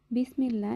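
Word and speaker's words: بسم الله: বিসমিল্লাহ, এখানে আল্লাহ শব্দের পূর্বে জের আছে, তাই আমরা লামকে পাতলা করে উচ্চারণ করব।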